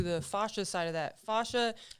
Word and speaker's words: fascia: fascia side of that fascia oh she says it fancy i was saying it wrong with her life i said fashion people yeah other people